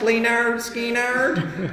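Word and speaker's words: Lynyrd Skynyrd: love Skinner I love it is pronounced Leonard Skinner I still got the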